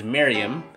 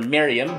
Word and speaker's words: Merriam: Like with the Miriam versus Miriam thing on the Vocab Hub, while most people pronounce it as Miriam, some people are trained to pronounce it as Miriam. I generally prefer Miriam because that's how native speakers pronounce it.